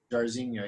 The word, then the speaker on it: Jairzinho: How do you pronounce his first name? Jairzinho? Yeah. Jairzinho, yeah.